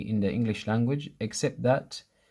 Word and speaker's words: ث: 3, the beginning of 3 is the same pronunciation as tha.